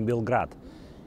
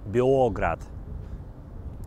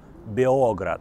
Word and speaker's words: Београд: Вы вообще удивитесь, но город называется не Белград. И не Belgrade, это Београд. Ударение на О и никакой буквы Л. Београд!